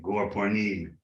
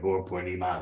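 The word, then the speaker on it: Gaura Purnima: Just like sometimes our devotees say Gaur Purnim instead of Gaur Purnima. They think you drop the last A, like often done in Hindi, but you don't.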